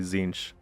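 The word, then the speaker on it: Tzeentch: gain a mark of I'm gonna say it wrong zinch zench it's definitely zinch right a marker of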